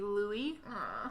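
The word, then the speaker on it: Luis: It is Louis. It's not Louis. Oh, so it's L-U-I-E? Nope. Oh, L-U-I-S? Oh, okay. But they're still calling him Louis. Yeah, like it's pronounced. Yeah, I can see that Louis. though. That's traditional. Yeah, like it's the very English way.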